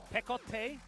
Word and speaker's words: Pekote: Pekote is how you pronounce it, but we might mix it up there.